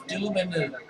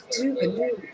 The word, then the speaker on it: Dubanu: How do you say that? It's Dubanu. Dubanu. Yes, I remember what you said, Daryl.